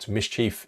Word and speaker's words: MSCHF: And finally, we have the good folk at MSCHF. That's how you pronounce that.